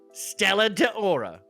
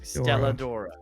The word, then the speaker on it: Stella Dora: such as Daisy May Stella Deora I think I said it wrong Stella Dora Stella Dora that's what it is Stella Dora Mama sass